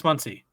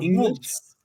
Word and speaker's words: Muncy: Can you spell that for me? Munce. Max Muncy. There you go. Yep, you got it. It's like what? I wanted to go Muntz.